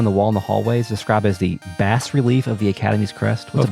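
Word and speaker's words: bas-relief: It's pronounced bas relief.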